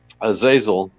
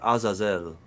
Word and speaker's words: Azazel: Yeah, so I pulled up the Azazel. That's how I'd pronounce it. But, Yeah, Azazel. You say potato. You say potato. I'll say that's potato. fine. I'm happy. Potato, man. We say Azazel down here.